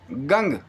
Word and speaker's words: गं: उनको मिला होगा कि जो तीसरा उच्चारण है कहीं ना कहीं इस बीज मंत्र का है वो है ओम गंग। फिर से सुन लीजिए, गंग, गंग, गंगा वाला गंग।